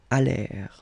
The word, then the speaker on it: allèrent: And then this ENT at the end, you know, the mark for the plural, well, clearly you don't pronounce it. So you get allèrent.